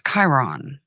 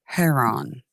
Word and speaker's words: Chiron: That's Chiron or Heron, however you want to pronounce it.